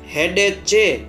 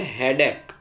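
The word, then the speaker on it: headache: यहाँ पढ़ने में मिस्टेक हो जाती है उसके स्पेलिंग की वजह से, एच ई ए डी ए सी एच ई, हेडेचे पढ़ना कई लोग गलत से करते हैं, सही है हेडेक।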